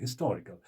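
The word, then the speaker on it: historical: हम कहते हैं हिस्टोरिकल, क्योंकि हिस्टोरिकल टी ओ आर जो है इस पर स्ट्रेस लगता है, यानी प्रोनाउंसिएशन इसकी ज्यादा जाती है, इंटोनेशन इसकी ज्यादा जाती है, तो ये स्ट्रेस्ड है टी ओ आर, यानी दूसरा सिलेबस जो है हिस्टोरिकल।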